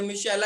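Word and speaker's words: Michelia: इसकी स्पेलिंग भी यही होती है, मिशेला ही बोला जाता है उसको, मिशेला फ्लावर।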